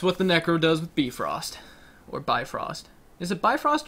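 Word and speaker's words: Bifröst: Wait, really? It's beef roast? Yes.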